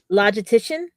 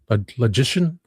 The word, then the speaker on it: logician: Um logitician. There's no T. Logician. Logician. The only T is right there. And it's the dash T.